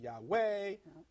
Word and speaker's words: Yahweh: my name forever yhwh and some pronounce it some pronounce it yahweh some pronounce it yahei waihe but nonetheless yhwh that was